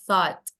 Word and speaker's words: thought: Kalau di Inggris, bahasa Inggris, GH ini kan nggak kebaca ya. Ya. Jadi GH-nya kayak kita Thought. hilangkan. Thought. Tinggal ini. Jadi thought. Gitu. Thought bacanya. Thought.